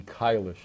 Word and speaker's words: Kailash: the second video by kylish actually one of the people on the crew is is German says it would be kylish if I was saying it properly which I'm probably not